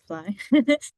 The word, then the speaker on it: FLI: So Fly which is pronounced as Fly acronym for firstgen and or lowincome students.